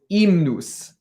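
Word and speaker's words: hymnus: now and in latin in this version of latin we don't pronounce h's so it's imnus everyone says good so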